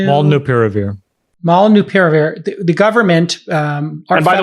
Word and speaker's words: Molnupiravir: Pronounce the name of it. It's Molnupiravir.